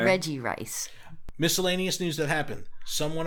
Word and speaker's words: Regice: No, but everyone throws the extra syllable in there. Reggie, because there's Registeel and Regigigas, but this is just I just want to call it Reggie Rice.